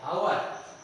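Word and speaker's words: hour: उसी तरह आपका एच है, आवर, आवर यानी एच ओ यू आर, यानी ये ओ से उच्चारण, एच का उच्चारण कहाँ पर आ रहा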